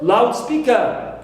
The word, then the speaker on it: loudspeaker: Also for loudspeaker as one word, one compound word and a noun, I stress the first element.